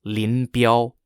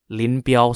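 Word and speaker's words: Lin Biao: forces in the Northeast were led by General Lin bial Lynn bial spelled l-i-n-b-i-a-o and under the command of Linville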